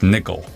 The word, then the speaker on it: NCCL: NCCL is pronounced Nickel.